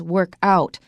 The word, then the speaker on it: workout: But we can also make it a noun, and when it's a noun, you write it as one word, and the stress is on the first syllable.